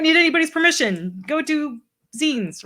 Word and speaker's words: zine: And for pronunciation's sake, it's zine because it comes from fanzine.